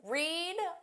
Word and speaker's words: read: Read, read, read. Notice the spelling is exactly the same, but the pronunciation changes.